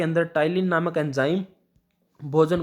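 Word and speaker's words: Ptyalin: इसकी स्पेलिंग है जो वो थोड़ी सी डिफरेंट है, PTYLIN। तो पटाइलिन क्या करती है? इसको आप पटाइलिन से याद रखिएगा, क्योंकि इसको प्रोनाउंसिएशन मतलब हम इसको बोलते तो टाइलिन ही है, लेकिन जो एक्चुअल स्पेलिंग है वो P से स्टार्ट होती है।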